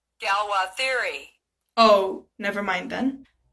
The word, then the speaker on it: Galois: theory representation theory galois theory wait am i pronouncing that right galwa theory oh never mind then anyways understanding the